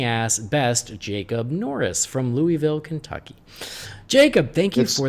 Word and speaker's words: Louisville: best Jacob Norris from Louisville Kentucky Jacob thank you for the message what listen you gotta say it like you got a mouth full of yogurt its Louisville it's not Louisville oh you gotta say